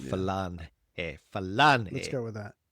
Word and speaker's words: Falange: Has a G in there, but I believe it's pronounced Falange.